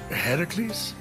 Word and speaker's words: Heracles: So, Phoenix, after boldly besting the Gorgon that ambushed Heracles... What are you doing there? That thing with your voice? Heracles? Yeah, that! That is how it's supposed to be pronounced.